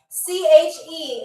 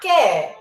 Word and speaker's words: che: CHE exclamation point. Che. I'm going to see if I can write it backwards for y'all. CH. That's what it looks like. Che, or not que, but che.